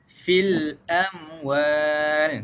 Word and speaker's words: al-amwal: Jadi bacaan al-amwal dekat sini, kita kena jelaskan huruf lam yang mati ini. Okey, macam mana cara baca dia? Cara bacaan dia ialah fil amwal.